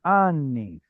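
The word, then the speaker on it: אני: There's the stress. What's the usual form of this word? Ni. The stress on the second. Ani. Ani. Kataf patach. Chataf Kataf patah. patach. Very good. And because it's a chatef vowel, it shall not ever get the stress of the word.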